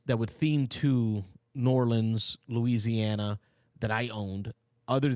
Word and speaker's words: Orleans: Mitchell actually looked up the official pronunciation of Orleans. Here we go. Orleans. So yeah, it is definitely Orleans.